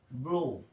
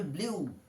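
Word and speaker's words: blew: তারপরে আসছে বাতাস দেওয়া, বাতাস দেওয়া বা বাতাস বওয়া, ব্লো, উইন্ড ব্লোজ বলা হয়, ব্লো। পাস্ট টেন্স হবে ব্লিউ, ব্লু, এটাকে বলা হয় ব্লিউ, এখানে লিখছি ব্লিউ কিন্তু উচ্চারণটা হবে ব্লু, ব্লো, ব্লিউ, ব্লোন।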